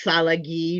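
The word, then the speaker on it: Tsalagi: That's kind of like uh Pawadami's our name is not Pawatami but and Cherokee is Sali not Cherokee.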